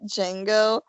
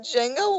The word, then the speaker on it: Django: And saying to Django, and somebody The D said is silent. D is silent, motherfucker, and I was like, what?